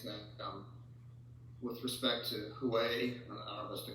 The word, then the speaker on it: Huawei: are going against them um with respect to huawei was the correct way to pronounce the company but a lot of them